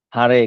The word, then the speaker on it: Hare: Hare Krishna, Krishna Krishna, Hare Ram, Ram, Hare Hare. So this starts with Hari and then becomes Hare when you do pronounce it.